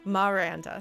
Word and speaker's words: Maranda: town as miranda miranda maranda so it's a slight pronunciation different from miranda which is the name so miranda miranda but